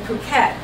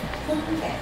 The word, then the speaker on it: Phuket: It's Phuket, not Phuket, like we would think PH would be a PH, but Phuket. Phuket. Phuket. Okay. Thank you. They pronounce the P.